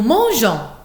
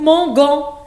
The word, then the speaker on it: mangeons: Attention, on ajoute e avant o-n-s afin de bien prononcer Jean, Jean, et non pas gon, nous mangons. Si on n'ajoute pas le e, on va dire mangon, mangon. Et bien sûr, c'est faux.